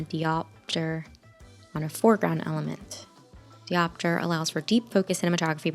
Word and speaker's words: diopter: Diopter allows for deep focus cinematography but requires much less light. I've been saying it wrong. Diopter.